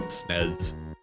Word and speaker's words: SNES: SNES is pronounced SNES. One word rhymes with less. I'm not going to be mad at you if you say like SNES or if you spell